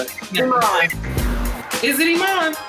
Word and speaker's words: Iman: I never know how to pronounce it. Is it Iman? It's Iman.